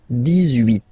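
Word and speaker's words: dix-huit: Okay, then 18. So you will make this little link between the two, the liaison.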